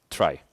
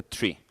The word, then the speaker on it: trie: of hash array mapped trie. And just to let you know, this is not me making a typo. It's spelled T-R-I-E. It's a trie, not a tree.